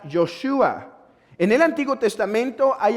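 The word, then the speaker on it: יהושע: Esta palabra o este nombre es un nombre que se toma del hebreo o arameo y que se pronuncia Yoshua.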